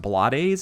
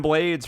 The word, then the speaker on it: Blades: It's pronounced Blades apparently because he's anyhow. I've been calling him Ruben Blades for like 40 years.